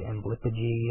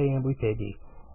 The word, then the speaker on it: Amblypygi: The name Amblypygi comes from Greek, not Latin, and that's why I pronounce the G hard. A lot of people say Amblypygi and things like that. I say Amblypygi.